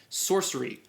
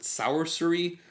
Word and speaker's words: Sourcery: that is Terry Pratchett's Sorcery. I'm pronouncing this sorcery because S-O-U-R-C-E is source, and that to me is sorcery. I don't know if other people pronounce it sourcery, like sour.